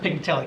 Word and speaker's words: Pignatelli: It's pronounced Pignatelli, correct? Right. That's right, I thought it was pronounced that way.